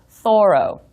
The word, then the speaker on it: Thoreau: Some scholars insist that his name should be pronounced Thoreau.